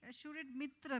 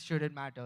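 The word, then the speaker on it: SHUDITMTTR?: It's pronounced as should it matter itself. It's just written that way.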